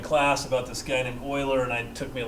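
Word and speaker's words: Euler: about this guy named uler and then Hearing in class about this guy named Oiler and I took me a long time to put together that that's the same person it's pronounced Oiler his name was Leonard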